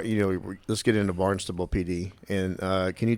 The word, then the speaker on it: Barnstable: yeah well bar you know let's get into Barnes toble PD and uh can you talk about that